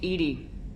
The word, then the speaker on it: EDI: behind the medical Bay why are you named Ed Ed is the phonetic pronunciation of Eed that is an acronym for